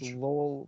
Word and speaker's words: Lowell: It's spelled Lowell. It's Lowell, Massachusetts.